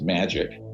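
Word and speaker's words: MAJIC: the majority intelligence committee m ajic is pronounced magic ironically or not ironically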